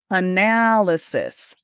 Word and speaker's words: analysis: This word has four syllables and we're going to put the stress on the second syllable. Listen here. Analysis.